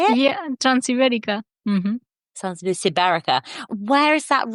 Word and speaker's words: Transibérica: Yeah, Transibérica.